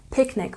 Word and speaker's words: picnic: Picnic, we also stress the first syllable.